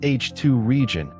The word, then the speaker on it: H II region: In photographs, the region of ionist hydrogen around a hot star called an H2 region, pronounced H2 region, expands into the surrounding neutral gas as the star continues to ionize its surroundings.